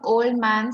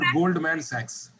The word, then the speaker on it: Goldman Sachs: with the name of Old Man something. Could you please? No, not Old Man. Not Old Man. It's Goldman Sachs.